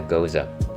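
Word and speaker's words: Gose: is that is that does that rhyme with Jose is it a go no it is a goza a goza is a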